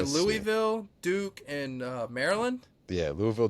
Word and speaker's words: Louisville: Louisville, All right. Duke, Louisville. You gotta say it like that, like Louisville.